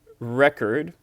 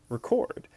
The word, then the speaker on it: record: Some words such as record can be either a noun like a person, a place or a thing pronounced record or a verb pronounced record like I'm going to record you.